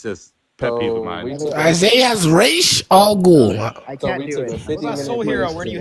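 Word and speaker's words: Ra's: who is an expert in this language is pronounced re not Raz that was just something for the movie because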